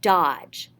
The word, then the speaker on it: dodge: let's do the word dodge make a fist duh ah just three letter i mean three sounds the ja is spelled d g e but it just makes one sound ja da ah ja